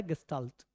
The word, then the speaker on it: gestalt: देखिए ये जो है 39th में पहला वर्ड है QUES, ये क्वेस्टल नहीं होता, ये वर्ड होता है, ये सारी स्पेलिंग बड़ी अजीब है, ध्यान रखना, GESTALT, ये वर्ड है गेस्टाल्ट, ये गेस्टाल्ट वर्ड है,